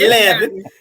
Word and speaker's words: Leveine: It's Leveine. It's not 11.